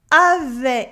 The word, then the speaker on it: avait: Avait décidé de mener son projet. Avait décidé de mener son projet. We have an E sound in avait with the silent T at the end of avait.